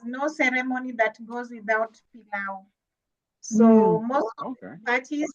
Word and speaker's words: pilau: Swahili Palu. Do I say it right? Palu? Pilau. Pilau. Yes, pilau.